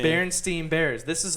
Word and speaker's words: Berenstain: People, it's spelt like a stain.